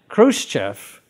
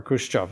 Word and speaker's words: Khrushchev: it was always part of russia crimea and khrushchev or khrushchev is a proper pronunciation in 1954 gave it away to ukraine